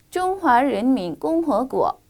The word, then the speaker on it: 中华人民共和国: 中华人民共和国.